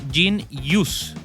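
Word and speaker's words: jeen-yuhs: años el 2022 y que se llama jin yus eso se escribe J E E n-y hus s y este documental lo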